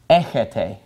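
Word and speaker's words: έχετε: This word is pronounced echis, and this is pronounced echete.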